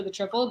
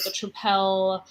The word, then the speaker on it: Tripel: restaurant called the Triple, it's spelled like the beer, TRIPEL, and people always call it the triple or the tripel, and then I just say no, like the beer, and then a